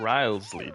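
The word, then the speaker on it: Wriothesley: Fortress Risley he's a very shrewd fellow yeah rley that's how you pronounce his name Duke right correct he is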